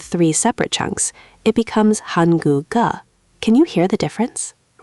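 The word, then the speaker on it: 한국어: Almost. You started to separate them. Let it flow. Hanguga. One smooth motion. Hanguga. Hanguga. There it is. Much better. See how it just glides? That's natural Korean pronunciation.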